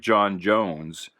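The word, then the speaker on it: J'onn J'onzz: stutter i know it's supposed to sound like jon jones but uh i always said it uh john's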